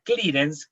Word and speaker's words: clearance: Aranza se escribe, pero se pronuncia clearance.